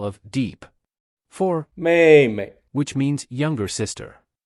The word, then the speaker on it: 妹妹: The pronunciation of 妹妹 is like the first syllable of "merry."